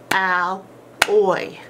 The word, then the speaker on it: alloy: of the syllable division alloy is two syllables Al oi Al oi and our syllable syllable division rules with double consonants is it divides right down between the two consonants here's our first syllable